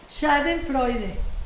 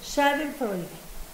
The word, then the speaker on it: Schadenfreude: Schadenfreude. ¿Sí? ¿Freude o Freud? Freude. Schadenfreude.